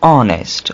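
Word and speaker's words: honest: देखिए ऑनेस्ट over ये जब ओ से पहले एच आ रहा हो तो उस वक्त एच साइलेंट हो जाएगा एच ड्रॉप कर देंगे ऑनेस्ट ऑनेस्ट कहते हैं ना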